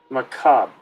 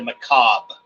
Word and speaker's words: macabre: Macabre. Macabre. That's how it's said in proper English. In American, it's been kind of whittled down to macabre.